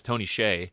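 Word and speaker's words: Tony Hsieh: that's what's interesting about that is basically that's Tony Shay that's how you say it I I learned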